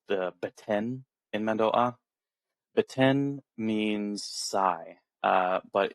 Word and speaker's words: Mando'a: Like when you say mandoa, you uh you don't go mandoa with like a w like gliding in there. You stop at the mando and then ah mando.